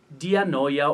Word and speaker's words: dianoia: Another term, and I promise is the last one I will mention, is dianoia. Another Greek word, dianoia or dianoia, depending on how it is pronounced, it is a compound word.